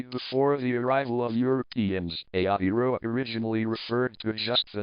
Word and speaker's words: Aotearoa: Aotearoa, pronounced A-T-A-A in Maori and slash A-T Ro slash